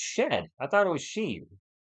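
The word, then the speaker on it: Shead: His name is pronounced shed.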